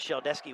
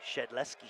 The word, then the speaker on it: Shedletsky: - nothing that was shelled esky with the takedown it's actually it's actually shedletsky shed Lester alright I'll